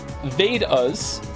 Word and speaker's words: Vedas: The Vedas, pronounced Vedas, and Upanishads, your pronunciation was quite close, are actually ancient Hindu texts.